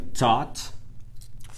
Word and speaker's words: thought: Thought. Thought. Thought. O G e o H, aqui a palavra é T-H-O-U-G-H-T. O G e o H é mudo. Você não ouve.